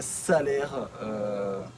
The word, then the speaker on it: Salers: alors nous sommes à salaire on ne prononce pas le S on a appris ça